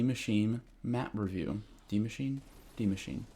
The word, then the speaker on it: Die Maschine: Die Maschine. That's how you pronounce it.